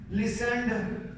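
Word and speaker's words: listen: रखा है तो हमने टी को साइलेंट ही रखना है इसको लिन नहीं पढ़ना लिसन ठीक है तो नॉर्मा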